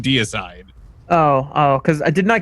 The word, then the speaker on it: Deicide: um Morty was actually insisting that it is in fact pronounced the decide. The decide if you misspell it purposely. This is not the case. Daniel actually does mean deicide.